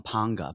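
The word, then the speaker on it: Pauga: do they call him ponga P panga paa yeah ponga there's they pronounce with an n in there and I am looking in phonetically there's no end I think Islanders are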